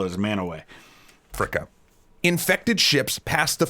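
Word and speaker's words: Mantua: it's up near cleveland we pronounce it manaway i know it doesn't look like that but that's what we call as manaway africa infected ships pass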